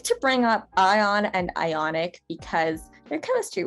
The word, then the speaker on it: ion: school like me um ion is actually a really fun word to pronounce that o in the middle actually sort of works like an like a y as we talked about before it has that springing